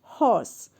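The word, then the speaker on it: hoarse: means terrible third is horse well the pronunciation is same like horse but the spelling is different this is h o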